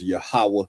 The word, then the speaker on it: Yahweh: Properly pronounced Yahweh in the Hebrew.